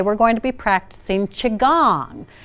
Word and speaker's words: qigong: going to be practicing chi gong now it's pronounced chi gong but it's spelled Qi ji Ong chi gong